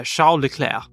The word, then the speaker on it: Charles: Liam Lawson uh so this has two versions because the angelized version is just Charles L cler but the French version is yeah shair I prefer to say shair uh Michelle lir Neville